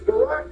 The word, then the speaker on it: Barack: Is this your way of distracting my Bestie, Barrett? It's Barack, you damn idiot. Barack. You mispronounced your name there.